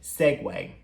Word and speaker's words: segue: Só que a gente pronuncia essa palavra como sendo segue.